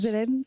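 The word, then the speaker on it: Snoezelen: Alors là, vous venez d'en prononcer un, il va falloir que vous nous expliquiez le Snozelen, je ne sais pas comment on prononce. Snozelen.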